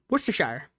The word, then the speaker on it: Worcestershire: Abby just said she doesn't even know how to pronounce Worcestershire. Does anybody know I do. Worcestershire.